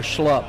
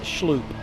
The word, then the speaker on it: Schloop: And I did say Schloop or Schlupp yesterday. It's Schloop. The double O. You need the umlauts because that's German pronunciation.